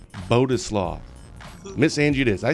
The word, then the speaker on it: Bodzislaw: sure how do you say your last name boduslaw boduslaw miss angie it is i say miss andrew